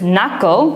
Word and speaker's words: knuckle: Because knuckle, like your knuckles, starts with the letter K. But K is a silent letter in the word.